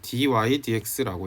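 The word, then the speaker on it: dy/dx: 이제 dx분의 dy를요 dy dx라고 읽습니다. dy dx 발음 순서가요.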